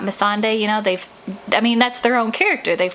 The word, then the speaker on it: Missandei: Like in one interview, they called me Sunday and not Missandei.